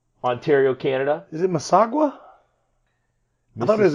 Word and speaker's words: Mississauga: Swiss conference in Mississauga, Ontario, Canada. Is it Mississauga? I thought it was Mississauga.